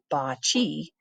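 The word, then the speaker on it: bocce: games in the world bot pronounced Bachi began with the Egyptians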